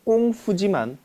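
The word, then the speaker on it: 功夫: 사실상 표준어는 꽁푸지만 당시에 이런 시대적 상황 때문에 오히려 서양 사람들에겐 표준어인 꽁푸라는 발음보다는 쿵푸라는 발음으로 더 익숙해진 이유가 바로 이 때문입니다.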